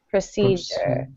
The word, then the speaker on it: procedure: this yes pro procedure procedure it kind of sounds like pros see sure cedure yep and the Sun